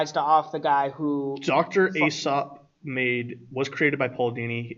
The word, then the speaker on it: Aesop: Aesop? Yeah, Aesop.